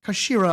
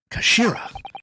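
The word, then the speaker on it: 頭: end of the hilt it's written as head in Japanese but it's pronounced as Kashira I believe Kashira so miss rasogi's words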